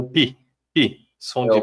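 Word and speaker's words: πῖ: omicron agora era o pi pi som de p é o PI é p né então ele tem o som de pi né e o som de Pi da palavra pipoca pipoca né quando a gente lembra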